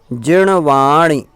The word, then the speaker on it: जिणवाणी: तो णा का उच्चारण हर जगह होगा, ना की जगह पे। जिणवाणी, णमस्समि, सत्ति, पयासमि, सग्गमोक्ष, संगम करणम, इस प्रकार से।